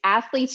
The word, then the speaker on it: Athleats: My biggest platform, I guess, is like Instagram, and it's Athletes Nutrition, and it's spelled ATHLEATS, like eats.